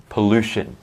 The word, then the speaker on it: pollution: pollution so pollution pollution a lot of times t-i-o-n becomes shun or all the time shun okay almost all the time uh there are always exceptions in english but most of the time shun like that perfect you get the